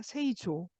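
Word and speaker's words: 製造: 그래서 이거 그리고 이거 예를 들면 이렇게 이게 지금 이렇게 Z 발음이 있으니까 이빨에서 나는 소리니까 세이조 제조하다 제조 세이조.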